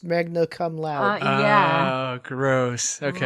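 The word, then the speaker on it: Magna Cum Laude: to pronounce it but I think it was intended to be pronounced Magna come loud oh gross okay right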